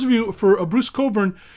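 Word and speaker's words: Cockburn: you for a Bruce Coburn it's spelled I think it's a french-canadian spell on its COC kb u RN cobra pronounced Coburn spelled COC KB you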